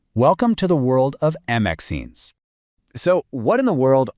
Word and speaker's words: MXene: The name, MXene, pronounced MXene, is a little nod to their parent material, which are called max phases, and also to graphene, using that same "ene" suffix.